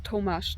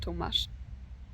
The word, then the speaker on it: Tomas: Uh, like for all the times I said it wrong, it's Tomas, not Tomash.